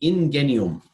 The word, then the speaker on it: ingenium: is a latin word the roman spoke of in Guinea in Guinea ohm that's how they would have pronounced it in Guinea 'm